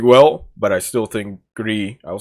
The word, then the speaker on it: Gris: but obviously Abzu and Gris. I said Gris again, Gris, whatever. Gris, however the fuck you pronounce it in Spanish, because it's Spanish, not French.